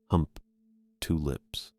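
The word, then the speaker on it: Humptulips: Hump, two lips. Not how I'd been saying it.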